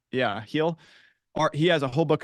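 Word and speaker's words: Heil: John Paul Heel, I think is how you pronounce it, Heel.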